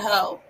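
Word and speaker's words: heaux: her you pronounce it the x is silent so you're right it's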